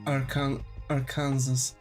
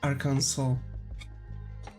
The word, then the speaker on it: Arkansas: A lot of Mexican people I talk to call it ar Kansas. Yeah. Like that's the thing, right? But actual the actual pronunciation of of that state is Aranso.